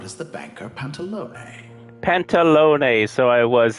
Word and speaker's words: Pantalone: Pantalone, so I was saying it right.